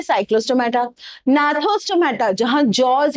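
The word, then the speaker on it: Gnathostomata: Vertebrata की division में further 2 हैं, एक है एग्नेथा जिसके जॉज नहीं है, एक है आपकी नाथोस्टोमेटा, जी साइलेंट है, ठीक है, जहां जॉज हैं।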